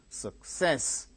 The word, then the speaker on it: success: third syllable gained stress success success two syllables are their second syllable gains stress teacher foresee syllable